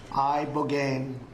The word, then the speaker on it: ibogaine: In 2024 study from Stanford University, 30 special operation veterans with traumatic brain injuries underwent it's called ibogaine treatment. Ibogaine. Remember the name. Is that pronounced relatively properly, would you say?